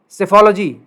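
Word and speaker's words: psephology: एक और शब्द है अंग्रेजी का, चुनाव विज्ञान, सेफोलॉजी, इसमें पी साइलेंट है।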